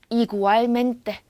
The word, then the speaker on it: igualmente: igualmente. 자, 여기 앞에 있는 I가 나온 거 우린 더 이상 I라고 읽을지 E라고 읽을지 고민하지 않죠. 스페인어는 무조건 E라고 읽으니까요.